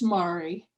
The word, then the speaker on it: Mary: if you unmute yourself i hope i'm pronouncing your first name correctly actually it's mari mari okay thank you thank